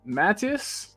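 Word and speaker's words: Mathys: first name is it is it matus uh m Matas it's the French way they Maas yeah that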